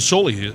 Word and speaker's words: Soley: Rhymes with Foley.